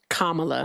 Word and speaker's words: Kamala: you've really seen that in Biden's stuff and Camala really Kamala hasn't said anything about that